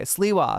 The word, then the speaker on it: Sliwa: Okay, Sliwa. Sliwa is how you pronounce it.